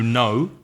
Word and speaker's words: know: course the verb to know which is spelled KN o w and pronounced no and oh I know